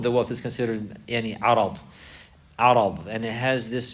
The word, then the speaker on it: عرض: Now if you pronounce it with the fatha On the ra you say arad. Arad. Arad.